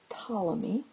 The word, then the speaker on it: Ptolemy: And the person who did this modification was Claudius Ptolemy. The P is silent.